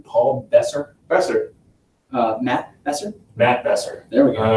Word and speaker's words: Besser: Besser.